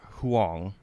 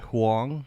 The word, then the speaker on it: Huang: uh CEO of Nvidia Jensen Huong not hang but Hong I believe that's how you pronounced it um you know he